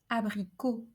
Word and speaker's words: abricot: First, when we have a word that ends in O, it's a closed O, like in the word piano, abricot.